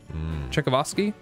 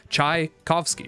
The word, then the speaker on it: Tchaikovsky: honestly travoski did i say that right is it is it is it pronounced czechovsky czevosky chuckle of ozzie uh